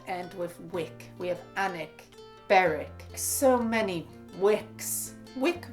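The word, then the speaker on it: Alnwick: town of allen which became alan wick or hanek as we pronounce it same with beric why do we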